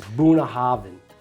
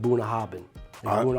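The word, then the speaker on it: Bunnahabhain: to pronounce it but it's it's buah Haven right not buah haban hav what I don't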